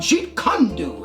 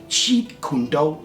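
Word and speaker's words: Jeet Kune Do: me like what what I said it's called Jet condu and you know I I didn't know what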